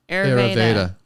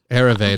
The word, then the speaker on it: Ayurveda: So spell it. Ayurveda. Ayurveda.